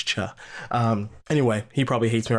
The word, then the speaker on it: Cha: I like to call him Choi, but I'm pretty sure it's Cha.